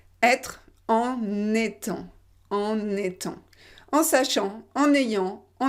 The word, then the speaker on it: en étant: Être en étant, en étant. En sachant, en ayant, en étant. En sachant, en ayant, en étant. En étant. Le N, il va dans la deuxième partie.